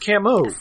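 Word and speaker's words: Camus: Oh, it's pronounced Camu.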